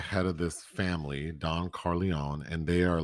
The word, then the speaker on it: Corleone: so there's the Don Corleone. Am I saying it right or Carleone? Well, there some Corleone. Corleone is, Corleone. Okay. well, there people pronounce it differently even within the film, but Corleone's fine.